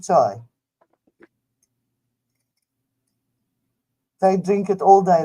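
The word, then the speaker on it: çay: Turkish tea is called chai, Cay, and they pronounce it chai.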